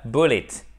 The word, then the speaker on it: bullet: He underwent an operation to remove the bullet. OK? Bullet. It. Vous voyez là ce E qui se prononce comme un I court. En fait, c'est presque un E.